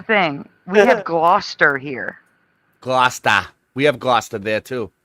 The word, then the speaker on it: Gloucester: Glouester.